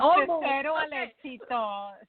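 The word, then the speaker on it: De Cero al Éxito: Well, it's de Cero el Exito, Secretos de Maestros Empresarios.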